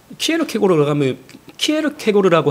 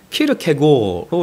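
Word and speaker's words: 키르케고르: 키에르케고르라고 하면 안 된대요. 제가 또 찾아보니까 이게 한국 철학학회에서 이름을 통일시켜가서 키르케고로 이렇게 발음을 해야 한다고 합니다.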